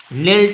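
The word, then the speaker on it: knelt: एक शब्द है नेल्ट, और नेल्ट में के एक साइलेंट लेटर है, अक्षर है। नेल्ट हम इसको पढ़ते हैं कि नेल्ट नहीं पढ़ते, इसको हम क्या यहाँ से शुरू करते हैं, यहाँ से नेल्ट, ठीक है। इतना ही बस का उच्चारण होता है, के का उच्चारण नहीं होता।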